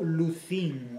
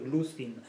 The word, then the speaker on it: Luzhin: o de aparición este personaje llamado Lucín o Lucin, según se quiera acentuar? Es decir, en español, al hacer llanas las palabras, lo pronunciaríamos con un acento llano, es decir, Lucin. Pero, bueno, puede admitir otras formulaciones. Yo lo llamaré Lucin.